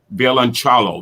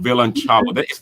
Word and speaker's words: violoncello: Violoncello. Violoncello. That's Italian, isn't it?